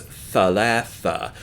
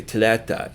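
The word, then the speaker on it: ثلاثة: For the word for the number 3, for example, is thalatha, but most people would say tlata instead.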